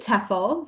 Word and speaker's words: TEHFL: Yeah, so we actually pronounce it TEFL.